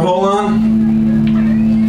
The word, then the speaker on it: Holon: We're HOLON. Rhymes with colon.